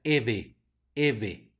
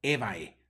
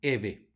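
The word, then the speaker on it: Evae: se dice Fili Fili luego tenemos una ae que se pronuncia e por lo es la palabra Eva se pronuncia Eve no ebae sino Eve luego tenemos una G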